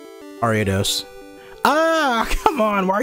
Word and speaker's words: Ariados: dose someone I remember I said Arya dose around someone and they said it's pronounced area dose and then I looked at them and I said no no no ariados ah come on why